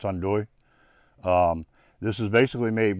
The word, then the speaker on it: andouille: this sausage called andouille it's spelled on delay i guess i don't know a little pronunciation but in french it's hondui um this is basically